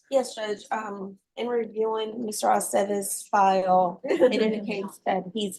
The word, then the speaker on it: Aceves: It's always ve. Bay, Aceves.